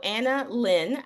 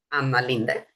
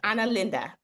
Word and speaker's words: Anna Linda: Um, so Anna Lynn, I am I pronouncing the last name correctly? So, nobody does. Like, nobody pronounces it correctly. So, in Swedish my name is Anna Linda, but in Brazil my name is Anna.